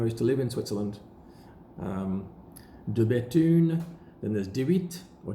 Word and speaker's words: De Bethune: Then we've got De Bethune. De Bethune are cranking out really, really nice watches. The B-E-T-H-U-N-E, don't say the H.